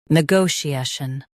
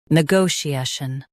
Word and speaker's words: negotiation: Negotiation. Now read the syllables shown on the screen naturally. N, go, she, shun. Negotiation. Stress go and keep shun light and quick.